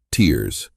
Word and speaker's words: TSRRS: The condition is called Trump supporter reality rejection syndrome or TSRRS pronounced tears which is coincidentally what the rest of us experience.